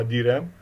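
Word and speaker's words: DRAM: اللي هو dynamic RAM اللي هو بيسموها دي رام، بننطقها دي رام، وفي اس رام.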